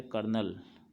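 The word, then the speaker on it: colonel: अब next rank है कर्नल। देखिए, स्पेलिंग थोड़ा डिफरेंट है, लेकिन प्रोनाउंसिएशन इसका कर्नल बोला जाता है।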